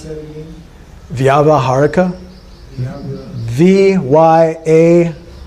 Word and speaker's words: Vyavaharika: How do you pronounce that again? Vyavaharika. V-Y-A-V-A, Vyava, H-A-R-I-K-A, Vyavaharika.